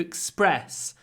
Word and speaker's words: express: press Twix Twix to express I would like to express my deepest condolences when we say Express the stress is on the second syllable so it's even more